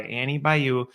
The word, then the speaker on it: Annie Bayou: your questions answered and today I'm joined by Annie Bayou from edcast and did I did I pronounce it right was I pretty close yeah